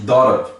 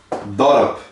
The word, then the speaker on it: dorp: Então todos têm um O. Então um O só se pronuncia como O. O. Então para dentro, igual, a mesma coisa quase igual a do A, é para dentro, na garganta.